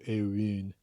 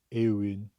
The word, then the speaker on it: Éowyn: It's, uh, it's like the oo sound but made much further forward in your mouth. Uh, the sound that, uh, California surfers stereotypically make when they say words like dude or tunes. So, Éowyn, Éowyn. Éowyn would be a little bit closer to the intended sound of that name.